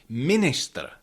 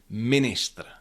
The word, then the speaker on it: ministr: happens in many loan words like for example minister minister again that is e after n but it is not pronounced as orion stadium.